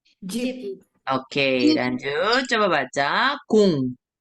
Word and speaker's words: 공: Lalu tadi sudah baca ya, ini dibacanya 공, engnya 공. Jadi huruf bulat ini menjadi 받침 dibaca eng.